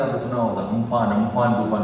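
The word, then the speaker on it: Amphan: अभी तूफान आ रहा था, आपने सुना होगा, अम्फान तूफान आ रहा है, अम्फान तूफान आ रहा है, हरिकेन अम्फान आ रहा है। मैंने सर्च किया, उसका प्रोनाउंसिएशन भी सीखा। वो अम्फान नहीं था, वो अम्फन था।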